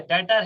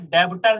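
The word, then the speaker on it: debtor: इसमें B silent होता है भाई, इसमें डेब्टर नहीं पढ़ते हैं, इसको इसको पढ़ते हैं डेटर, बी साइलेंट होता है।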